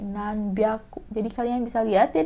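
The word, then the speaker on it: なんびゃく: Untuk nanyain khusus juga, dia bukan nan hyaku tapi nan byaku.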